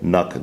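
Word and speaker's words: NUC: about these awesome little nook devices that's intel's next unit of computing pronounced luck but with an N Intel isn't only cover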